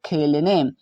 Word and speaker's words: खेलने: KH से ख, यहाँ पर ई का मतलब ए की मात्रा, एल का मतलब लॉ, ए साइलेंट रहेगा, एन का मतलब न और ई का मतलब ए की मात्रा। तो इस प्रकार से हमने खेलने लिख दिया।